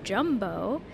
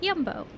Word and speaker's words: Jumbo: okay goodbye this is yumbo which I learned is not in fact pronounced jumbo but yumbo please feel free to